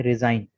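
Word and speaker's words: resign: इसके बाद है रिज़ाइन। अच्छा, देखें ये जो वर्ड है पहला वाला, ये कहलाता है साइन। ठीक है, सीन के साथ साइन। लेकिन इस वर्ड को पढ़ा जाता है रिजाइन।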